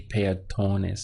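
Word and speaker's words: peatones: on this word here if we look at it it's a ah thorn is so as a link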